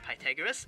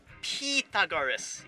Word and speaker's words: Pythagoras: it pythagoras but do you know it's not pronounced pythagoras it's pronounced petagorus that's right it's the petagoras theorem anyway they